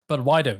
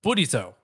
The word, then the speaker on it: Budwido: Please pronounce his name as Budwido, not Budito. Buti.